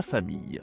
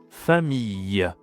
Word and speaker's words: famille: Alors, voyons le vocabulaire de la famille en français. Alors, déjà, on commence avec la prononciation.